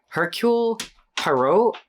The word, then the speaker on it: Hercule Poirot: So we're going to call him Detective P, but it's Hercule Poirot.